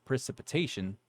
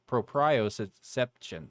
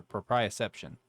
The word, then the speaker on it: proprioception: body including touch temperature pain and pro uh precipitation proprioception oh sorry proprioception that how you say it yeah the sense